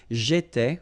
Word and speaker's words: j'étais: J'étais, okay? Remember, here we've got accent aigu, so it goes like et, all right?